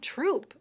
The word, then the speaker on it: Throop: of Irish immigrants, and there's not a strong TH sound in that language. So if you're looking at a street that goes through Bridgeport, like Throop, THROOP, people just pronounced it Troop, and they also pronounced the street 33rd Turdy Turd.